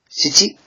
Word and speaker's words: 七: This is pronounced shichi, and the kun reading is nana.